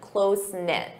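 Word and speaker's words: close-knit: Notice that pronunciation close knit.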